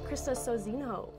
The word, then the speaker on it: Sozinho: With me next is Krista Sozinho. Hi. Hi. Did I pronounce that right?